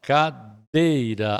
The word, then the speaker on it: cadeira: Cadeira, ó, cadeira. A sílaba forte é o dei, é uma paroxítona.